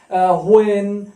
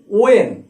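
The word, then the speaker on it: when: WH question যে ওয়ার্ডগুলো সেগুলো যেমন হোয়াই, হোয়েন, হোয়ার, হোয়াই, হাউ এরকম। তবে আমি অনেকবার বলেছি ওয়েন, হোয়েন নয়, উচ্চারণ হবে ওয়েন।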